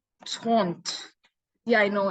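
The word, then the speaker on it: trente: you 30 right 33 0 so it's like taunt yeah I know it's like the spelling is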